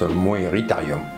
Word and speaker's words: Moeritherium: Coelophysis, ça se prononce Coelophysis, Coelacanthe, c'est Lacanthe, Moeritherium, Meritherium. Ma foi, peut-être. La bête du lac Moeris. Ah, ben ça se prononce Moeritherium.